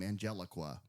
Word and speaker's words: Angelique: This one, he almost splits his time with this new character of Angelique. Yeah. And she is kind of, the foil to him. Also, you could pronounce that name Angeliqua.